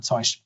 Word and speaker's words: Zeug: So how do you pronounce the final consonant? Do you pronounce it like sh or like sh? So Zeug, Zeug, or Zeug.